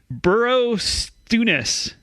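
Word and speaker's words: Borrowstounness: has a longer name they call it bonus but the name is actually burrow stewness oh bro okay yeah yeah so it's b-o apostrophe it's on the south side yeah ness but yeah when i when i say bonus just think burrow stewness okay that's i can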